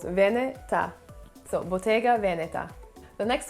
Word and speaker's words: Veneta: So it should be pronounced Veneta. I mean, you don't have to say it with a huge Italian accent, but kind of split the word up into two syllables, Veneta.